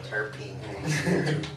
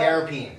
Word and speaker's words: terpene: Terpene.